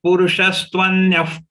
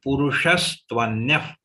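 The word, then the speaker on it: पुरुषस्त्वन्यः: Nothing is long, everything is short in this charan. We have to move fast, but while moving fast, pronunciation has to be perfect. Uttamah purushastvanyah. Purushas. You have to twist your tongue from sh to sa immediately.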